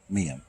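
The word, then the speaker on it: Meiam: Pronounced Miam. If you say me I am very, very fast, you'll get Miam.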